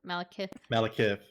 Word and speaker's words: Malekith: Malekith Did I say it right? Malekith? Malekith. Yeah.